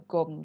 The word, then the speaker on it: gum: Terus habis itu ada gom juga. Nah, kalian perlu tahu apa itu gom. Tulisannya itu gum gitu, tapi bacanya gom.